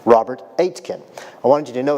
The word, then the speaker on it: Aitken: It's pronounced like 8, like the number 8, and kin as in your next of kin. Robert Aitken.